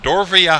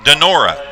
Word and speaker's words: Donora: The Reds signed someone on this day out of Dorvia High School. Dorvia High School. Let's see if I can spell that for you. Oh, I'm sorry. Donora.